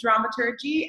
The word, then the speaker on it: dramaturgy: And you were saying it right, it is dramaturgy, and nobody knows how to say that theater in Amsterdam, so don't worry about that.